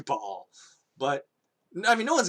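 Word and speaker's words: Baal: oh you play diablo they all say bail which is actually incorrect it's actually ball but i mean no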